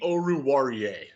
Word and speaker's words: Oruwariye: Wait, how do you pronounce it? Oruwariye? Amani Oruwariye.